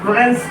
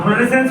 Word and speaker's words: fluorescence: तुम लोग तो बस स्पेलिंग पढ़ लेना, FLUORESCENS फ्लोरेंस। हम फ्लोरेसेंस पढ़ेंगे, तुम जो पढ़ो फ्लोरेसेंस, ये चमका है ना कैथोड के उल्टा साइड, इस घटना को क्या बोलेंगे?